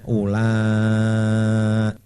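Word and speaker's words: أُولَٰئِكَ: Nah, wawunya kalau di Quran sini ditandai dengan lingkaran. Jadi lingkaran itu menunjukkan bahwa itu huruf tidak dibaca, maka bacanya ula.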